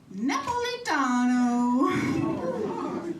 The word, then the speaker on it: Napolitano: in their graves because it's actually, you ready? Napolitano. You have to say it with an offensive Italian accent and a hand gesture.